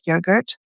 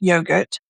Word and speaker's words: yogurt: I think uh my kids always tease me because of how I say that word yogurt. I say it's not yogurt, it's yogurt. And they parro at me back when I go, "It's not yogurt." Yogurt. It's not. It's yogurt. Is it not? It's how it's spelled.